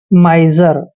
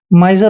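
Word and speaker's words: miser: को आई पढ़ना है जब भी एस से पहले आई होता है तो एस का उच्चारण ज करते हैं और ई आर को र पढ़ते हैं माइजर माइजर होता है कंजूस माइजर कंजूस रवि इज अ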